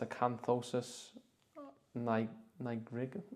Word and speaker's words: acanthosis nigricans: There is one symptom that I didn't know, and I've had to look how to pronounce it. So it's acanthosis nigricans.